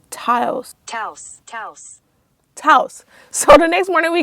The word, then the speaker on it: Taos: Taos.